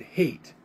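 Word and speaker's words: Haight: but it's h-a-i-g-h-t which probably the german way would be height but a lot of people pronounce that hate and she told me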